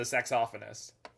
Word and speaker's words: saxophonist: player or a saxophonist as a sexophonist that's not all british people but there are some who will that is that is a correct pronunciation i'm saying though right more like a saxophonist oh we probably want